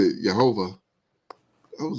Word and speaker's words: Jehovah: and he said it, Jehovah. I was like, "Where'd you get that from?" But Right. that's how they pronounce it, that's how the Jewish pronounce it, Mm-hmm. Jehovah. When they do, they mostly